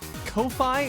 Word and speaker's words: Ko-fi: Is it pronounced Ko-Fi or coffee? Because I've always been under the impression it's like buy me a coffee on coffee. But Ko-Fi sounds stupid. Coffee.